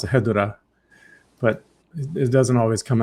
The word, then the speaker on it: Hedorah: How do you say it? Hedorah. Perfect. Not not Hedorah.